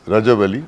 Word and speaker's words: Rajabali: It's Rajabali. It's Rajabali. Okay ठीक है. Rajabali. Rajabali.